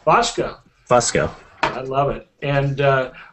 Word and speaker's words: Fusco: And then Jack Fusco. Am I pronouncing that right, Jack? It's actually Fusco. Fusco.